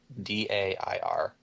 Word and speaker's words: Dair: the name is Dare, Dair. Like dare to keep kids off drugs, that sort of thing? Like that's how it sounds, but it's spelled differently.